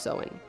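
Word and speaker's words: Samhain: from a three-day ancient Pagan Celtic Festival called sew in which is actually spelled s-a-m-h-a-i-n but it's actually pronounced sewing this festival marked the end of summer and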